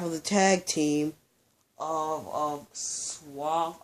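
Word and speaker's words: SAWFT: Christian, Big Cass, one half of the tag team of Swaff. I think it's Soft. It's Soft. It's not S-O-F-T. It's S-A-W-F-T. I thought it was S-W-A-F-T, Swaft, because they used to say it like Swaff.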